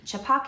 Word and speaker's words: Chhapaak: two of them yeah that's how you pronounce it right I think it's chipak chipak yeah which means Splash it